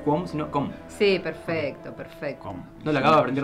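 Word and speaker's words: Qom: Com. No lo acabo de aprender recién porque lo dijiste vos, ¿no? Com, se dice com, en realidad es como una especie de C glotal.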